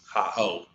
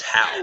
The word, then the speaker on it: Haugh: Pronounced how. Okay. We can't read that. I thought it was Thomas Ho, but it's not. Thomas Ho.